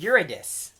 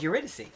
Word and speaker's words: Eurydice: I always thought it was Eurydice, but Yes. then it turns out it is Eurydice.